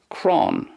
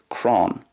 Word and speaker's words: crann: it's more like crann crann kind of rhymes with like a lawn or something like that crann and then in ulster